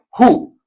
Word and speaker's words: who: con Who y ojo Esto no se dice W ni se dice W se dice H como si fuera J con u listo ju en este caso vamos a decir que la W es muda y que esa o